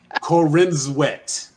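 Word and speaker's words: Corenswet: Cornsweet? Like C-O-R-N? C-O-R-E-N. Oh. Corin Sweat. Not like sweaty corn. Right. Oh, like Corinzwet. Like we'll throw some syllables in there.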